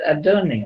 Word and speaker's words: Adonai: How do we say that word? We say that word as Adonai, right?